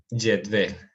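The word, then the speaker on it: cetvel: Y acuérdense que la V se lee con el labio inferior.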